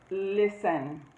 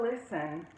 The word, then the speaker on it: listen: Listen. Okay? Listen. When we spell listen, we have L-I-S-T-E-N, right? There's a T in there. We don't pronounce a T when we say listen, okay?